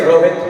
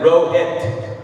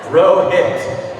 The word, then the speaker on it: Rohit: Right, my friend Rohit, he doesn't say Rohit with the TH. He pronounces it Rohit. And he says you pronounce it like row you row a boat. And hit like you hit somebody, right? Rohit.